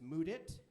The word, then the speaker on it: Mudit: leave you with this i have a unique name or unique pronunciation that is mood it a fun way to